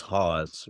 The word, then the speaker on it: Hause: They do house, but it is Hause. That's the way we say it.